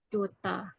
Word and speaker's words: daughter: Yang GH-nya silence tuh kayak daughter, ya, anak perempuan. Cara bacanya Daughter. tuh, kalau versi British tuh kayak gini. Bentar. Dota. Ya, Dota. Itu yang British. Kalau American, daughter gitu.